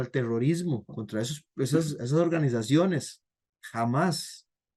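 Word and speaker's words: Hamás: Jamás, no con J, sino con H, pero lo pronuncian así. Jamás.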